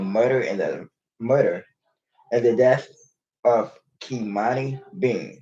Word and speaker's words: Kimani: Sean Hernandez, aka Rafi Gorham, faces multiple charges, including murder and the death of Kimani Bean, that is spelled Key, Monnie, Bean, spelled Bean, who was found unresponsive December 8th in the basement of a house on South Beechwood Street.